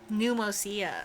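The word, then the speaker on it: Pneumousia: Pneumosia.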